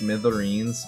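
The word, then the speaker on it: smithereens: I know that it's pronounced smitherines, but I really I really like sticking a D sound in there for no real reason other than I think it sounds awesome to say smitherines.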